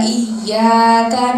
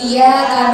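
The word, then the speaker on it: إِيَّاكَ: Padahal diaknya itu terdapat tasydid. Jadi kita harus memberi haknya. Kita harus apa kasih penuhi haknya. Iyyaka. Iyyaka. Diaknya itu yang pertama ada tasydid, yang kedua juga ada. Iyyaka na'budu wa iyya.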